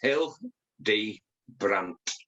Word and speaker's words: Hildebrandt: It's as it's spelled. It's Hildebrandt. Hildebrandt.